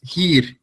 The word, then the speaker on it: hier: In the beginning, the first word you see in the pronunciations is hier. Yeah. It is pronunciated like the English word here. Yeah. And it basically means the same. Yeah. It means here. Yeah. And it's roughly pronunciated the same. So I and A, yeah, that combination is like a large E. Yeah. Like E, but just longer.